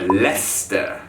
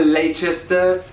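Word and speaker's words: Leicester: personal favorite the one that i have been mispronouncing forever lester look at the size of this word it's not a lachester not lay what is the point of all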